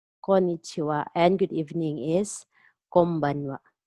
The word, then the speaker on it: konbanwa: So N here in after ko is pronounced as M. Konbanwa.